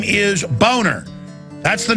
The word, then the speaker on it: Boehner: well you know he the name is German it's a nice name it's pronounced boner and he his whole life he even had ad campaign saying it's Boehner not boner hey if your if